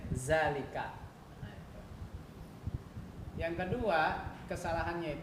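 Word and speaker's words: ذلك: Dalika, dalikuma, dalikum. Itu kan salah, harusnya zalika, dalikuma, dalikum.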